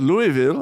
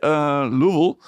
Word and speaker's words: Louisville: I've learned to pronounce that. Not Louisville, apparently. Louisville.